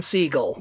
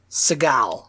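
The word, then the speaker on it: Segel: Seagal, I think it is. Jason Seagull. But it's spelled like Steven Seagal, isn't it? Yes. But I think he maybe doesn't want the association.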